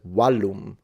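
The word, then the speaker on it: vallum: Because wallum is the word where wall comes from, and it means, of course, a wall.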